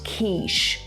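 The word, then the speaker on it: quiche: друг каже No te It's pronounced keish ну Подивіться на це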